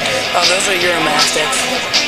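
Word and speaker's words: Uromastyx: Oh, those are Euromastiffs. Their name is spelled really weird. It's like U-R-O-A-S-T-X. It's U-R-O-M-A-Y-S-T-X, something like that.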